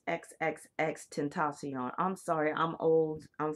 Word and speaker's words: XXXTentacion: And so it's Xxxtentacion.